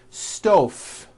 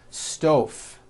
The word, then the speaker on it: stove: Stove. I cooked dinner on a hot stove. Was that correct? No. I should have said stove. Stove. I cooked dinner on a hot stove with a voiced V.